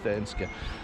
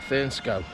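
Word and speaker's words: Thurnscoe: the village of thinska I think it's this guy I was pronouncing it fernsco on the last video wasn't it um as it's as it's written really but as we know around here things aren't pronounced the way they're written are they so we're leaving that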